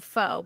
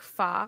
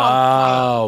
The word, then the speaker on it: pho: Like, I always pronounce it wrong, so I'm going to pronounce it wrong. And to anybody listening, sorry. I call it pho, but I know, isn't it like pho or something?